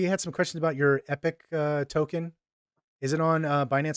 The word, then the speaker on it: Epik: Epik Prime, yes.